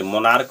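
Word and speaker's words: monarch: तो एम ओ एन ए आर सी एच मोनार्क हो गया।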